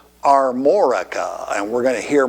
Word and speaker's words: Armorica: bitty tiny area called armorica and we're going to hear more about that later yes i did say it right are morika and you'll hear about